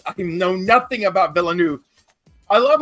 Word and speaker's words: Villeneuve: How do you say it? Nueve? Is it Nueve? Villanueva. Yeah. He's right. It's written by Eric Heiser and Ted Chiang. Is Villeneuve? It's French. Denis Villeneuve.